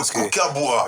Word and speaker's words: kookaburra: Alors, essaie de prononcer pour moi. Le kookaburra.